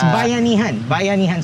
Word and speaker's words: bayanihan: So one of the things that I really love about Filipino culture is, I'm probably going to pronounce it wrong, Bayanihan spirit. Yeah, it's Bayanihan spirit.